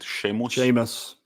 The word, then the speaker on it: Seamus: How do you pronounce it? Seamus.